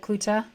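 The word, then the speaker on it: Coet: the show notes but your last name is pronounced clut and it's spelled c o e t correct that is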